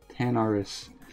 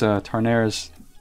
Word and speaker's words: Tanaris: Ian Crawford says Tanaris. Yeah, like I said, it's that southern accent I have sometimes just makes me draw it out as Tarnaris. I think it's in reference to Tarnation or something.